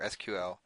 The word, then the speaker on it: SQL: Now, if you haven't heard the term SQL before, SQL is just a standard language for accessing databases. It's pronounced SQL sometimes, but it stands for Structured Query Language.